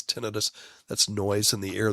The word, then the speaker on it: tinnitus: Not so much for tinnitus or tinnitus. It's always, my ENT professors always pronounce it as tinnitus.